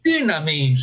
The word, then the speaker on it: dynamis: El acento en griego es dynamis.